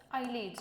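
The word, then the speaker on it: islets: आयलिड्स ऑफ लँगरहॅन्स. S stands for, S is silent.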